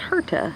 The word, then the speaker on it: hirta: the red Lucia rudebukia I think it's pronounced hearta and not the Missouri